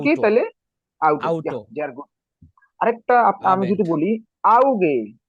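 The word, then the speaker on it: Auge: আরেকটা আমি যদি বলি আউগে আউগে আউগে অর্থ চোখ আউগে অর্থ কি আউগে উচ্চারণ করেন হ্যাঁ চোখ চোখ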